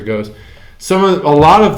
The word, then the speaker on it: Gose: goes and I know some people pronounce it goza some people pronounce it goes I pronounce it goes some of a lot